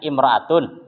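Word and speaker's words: امرأة: Kan tadi kalau enggak pakai alif lam bacanya imro'atun. Kalau pakai alif lam bacanya al-mar'atu gitu.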